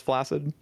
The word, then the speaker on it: flaccid: In fact, I want to ask you, Tasty, how do you pronounce flaccid?